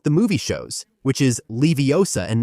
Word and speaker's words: Leviosa: The gar is long and pronounced, not like the movie shows, which is Leviosa and not Leviosa, even though that's how it stuck, right?